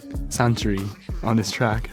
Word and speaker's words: Suntory: Yeah, Suntory です。日本のね、ビバレッジメーカーのサントリーですね。But yeah, this is really like Japanese pronunciation. Suntory, that's perfect.